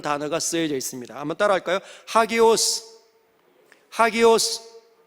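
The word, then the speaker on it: ἅγιος: 헬라어 A가 아 발음인데 이 쉼표가 요렇게 바르게 되어 있지 않고 쉼표가 거꾸로 이렇게 세워져 있으면 아 발음이 아니라 하 발음입니다. 그래서 하기오스라고 발음이 되는 거죠.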